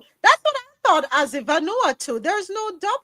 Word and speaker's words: Vanuatu: territories as well as Vanoa 2. Did I say that right? Vanuatu. Vanuatu. There's no W in there.